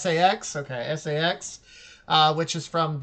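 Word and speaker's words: SA-X: Over to the that right is going to be Saw X. Is that how you pronounce it? No, it's just SAX.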